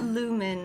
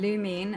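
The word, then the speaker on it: Lumine: Lumen and Ather or is that a different one? Lumin and Ether.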